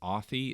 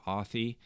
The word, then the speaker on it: Authy: And I use the app called, I think it's Authy is how you pronounce it, as in authentication.